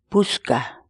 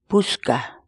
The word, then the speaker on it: puchka: series videos where we teach you how to pronounce certain words in Quechua. So our word of the day for today is puchka, puchka, puchka.